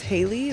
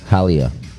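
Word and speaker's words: Hayleigh: Hello, my name is Haley. That's spelled with eight letters.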